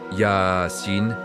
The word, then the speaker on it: Yaseen: Les lettres mystérieuses y se prononcé Yaassin avec un allongement doux de 2 à 6 ans selon les couras.